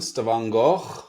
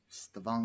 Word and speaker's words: Stavanger: So we're actually, they pronounce it Stavanger. So there's a skara R, a very rough R at the end, and they've got a very lovely accent out here. But Stavanger.